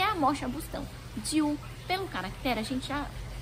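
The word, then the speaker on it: 灸: A parte de cima é um caractere que se escreve Jiu, que também, né, tem este som Jiu, né?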